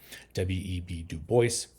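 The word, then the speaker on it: W. E. B. Du Bois: web Duo and that is actually how you pronounce his name web du Boyce uh and he believed in um as I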